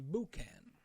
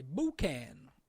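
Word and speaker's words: boucan: term for smokehouse is buouan. So if you're in France, you say buan, they take you to the smokehouse.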